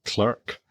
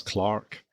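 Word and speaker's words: Clerke: And there's another illness on board which is poor old Captain is it clerk? Yes. Clark. I think they pronounce it Clark or back then they pronounced it Clark.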